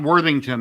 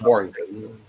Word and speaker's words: Worthington: I'm trying Scott to look Warrington. at my. There's a few Scots in the 3D printing community. Scott Worthington. That's it. Scott Worthington. Yeah, I had to have the name wrong. I was close. Warrington.